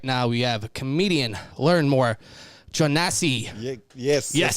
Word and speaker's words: Learnmore Jonasi: But joining us right now, we have comedian Learnmore, Jonasi.